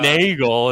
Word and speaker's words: Nagel: __ ] dox this mr nagel mr nagel it's rhymes with bagel i was sitting